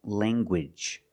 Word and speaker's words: language: hard G sound, like language. Language. You have the nasal sound, lang, and the hard G. Gwidge.